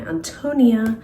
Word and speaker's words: Ántonia: I call it My Ántonia because the accent is on the A.